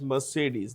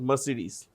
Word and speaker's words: Mercedes: You pronounce this as Mercedes, not Mercedes.